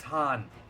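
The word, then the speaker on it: Khagan: I forget the way that they pronounce this because it's written Kagan, but I think it was Hagen, Han. It's Han.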